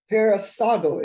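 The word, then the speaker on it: παρεισάγω: down this Greek word here here is paraso paraso is pronounced p a r e i s a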